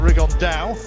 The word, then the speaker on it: Rigondeaux: rigondo or as he's correctly pronounced with the spanish accent rig on dao and two absolute geniuses